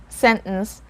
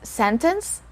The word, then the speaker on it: sentence: my entire video sentence sentence just like the word important important you can either pronounce this word as sentence having the sound of the letter t or without it sentence let's have the